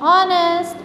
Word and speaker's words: honest: Then an is used before those words with h is silent. Everybody know an hour, an honest, an honorable man. Then the h will be silent.